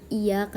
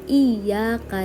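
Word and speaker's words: إياك: Kesalahan yang sering terjadi adalah penekanan atau tasdid di penyebutan huruf ya, tidak menekan huruf ya. Jika tasdid hilang, maknanya berubah dari kepadamu menjadi kepada cahaya matahari. Orang-orang sering membacanya iyyaka na'budu wa iyyaka nasta'in.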